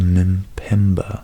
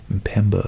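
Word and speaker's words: Mpemba: fact seems counterintuitive but it's called the min pemba effect Pemba effect as an M before the the P that's hard to pronounce my Pemba effect after a Tanzanian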